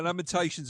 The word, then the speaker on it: Lamentations: limitations of our women the Lamentations of the women get it right L laminations of the yeah if you're going to use that as an insult all right at least at least say it correctly okay take my [